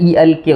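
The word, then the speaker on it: Elk: इसमें वो डिस्कस करते हैं एक बहुत प्राचीन हिरण के बारे में जिसको अल्क कहा जाता है। इल के उसका प्रोनाउंसिएशन है।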